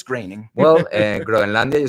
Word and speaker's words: Groening: We're talking about Mac Groening because it pronuncia Groening. Groening. No es Groening. No, Groening. debería ser Groening, but no, it's Groening.